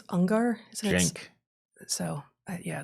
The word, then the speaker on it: Uygur: Cenk, I think it's Ungar, isn't it? Cenk. So, yeah, that's spelled weird, and his Cenk. name, how is it pronounced? I think it's Cenk Uygur.